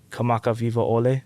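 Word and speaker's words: Kamakawiwoʻole: Kamaka Vivo Ole.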